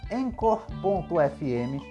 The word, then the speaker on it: Anchor: aqui Vale lembrar que encor se escreve a n c h o r encor o jeito mais fácil